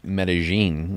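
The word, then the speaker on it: Medellín: have seen that recently they've been doing a big crackdown in Medellin is how they say it there.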